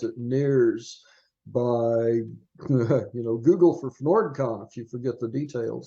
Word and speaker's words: FnordCon: So you have upcoming, you mentioned you've got a convention called FnordCon. Am I pronouncing that right? Yes, you're pronouncing it exactly right.